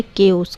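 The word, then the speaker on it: chaos: चाउस को हम कैसे प्रोनाउंस करेंगे? CH को कैसे करेंगे? केओस, केओस ऐसे प्रोनाउंस करेंगे।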